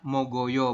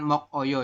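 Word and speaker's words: 먹어요: ke sini benar engak di adalah mogoyo bukan mok Oyo ya ini kan mok Oyo salah ini un ya maka yang paling tepat adalah mogoyo seperti ini ini juga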